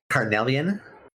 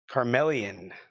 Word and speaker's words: Carnelian: I can't say it right. Carnelian. Is it what is it? Carnelian. Carmelian. Carnelian. C A R N E L I A N.